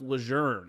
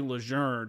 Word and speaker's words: Lejeune: a change, or like, it's actually pronounced Lejeune. It's John A. Lejeune.